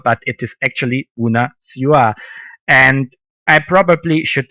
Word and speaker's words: Bună ziua: introduction when I introduced Julian in Romanian, I pronounced it wrong. I used to say Bună ziua, but it is actually Bună ziua.